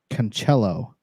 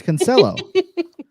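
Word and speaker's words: Cancelo: They say Cancello. Oh yeah, as if he's some kind of Italian. Yeah, yeah. And this host never corrects them. It's Cancello.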